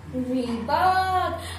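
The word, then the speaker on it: Reebok: आई एम 100% sure, but इसका सही pronunciation है रीबॉक, रीबॉक, रीबॉक, ऐसा लग रहा है कि कोई बक बक कर रहा है, ऐसे रीबॉक, ऐसे याद रखिए, बक बक मत कर, रीबॉक।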